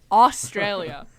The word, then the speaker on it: Australia: Well, that's how I pronounce the AU sound. Like, Australia, austere.